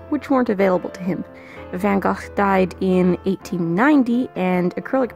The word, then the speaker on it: Van Gogh: Vincent himself would have pronounced the latter syllable of his name with the short O and a hard guttural CH, like in Loch.